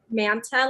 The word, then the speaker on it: Manta: mystic is it monopoly how do you say that manta like santa a mystic manta and